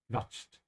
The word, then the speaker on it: quatschen: The Q is sort of a slight V here, yeah? Quatscht. Gequatscht.